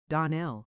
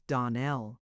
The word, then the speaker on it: Donnell: Clarice Almra told me that you pronounced our name Donell. Now, Miss Shirley, the correct pronunciation of our name is Donell. Accent on the last syllable.